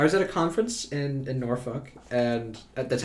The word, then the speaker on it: Norfolk: down is, I was at a conference in Norfolk, and that's how you say it.